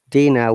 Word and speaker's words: dinner: And dinner, there is R, but dinner. Dinner. Remember that. R is at the end. And British IPA, we do not pronounce R in this case.